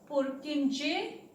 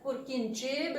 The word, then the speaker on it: Purkinje: Now I am pronouncing it as Purkinje because general pronunciation वही है, otherwise the true pronunciation is Purkinje fibers. But जैसे आपको comfortable लगे आप कर सकते हैं, because what is our main aim? To gather knowledge. Pronunciation differ करते from country to country, does not matter.